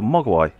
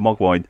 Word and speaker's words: mogwai: Yeah, it's like a mogwai. I said it right this time. I said mogwai instead of mogwine.